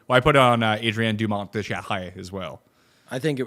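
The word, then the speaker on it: Dumont de Chassart: People want to hear that pronunciation. Adrien Dumont de Charret. Descharret? De Charret. Okay. Not Shaz Art, as I'm sure some stupid American will say.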